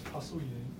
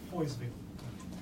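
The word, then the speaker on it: Poiseuille: Of course, you know, the whole name is Pasouillet. That's French. I used to pronounce it as Poiseville. Obviously, that's the English way of saying it.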